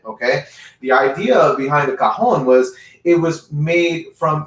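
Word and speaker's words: cajón: up look at the cajon it's spelled c a j o n okay cajon the j has a h sound okay in spanish in the spanish language so the tanks on that h sound so it's called the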